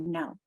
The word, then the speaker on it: know: Look at this perfect example right here in the word no. In fact, I just saw a conversation this morning on a listserv saying, why do we call these KN a silent letter combination versus the PH that you see in phonology?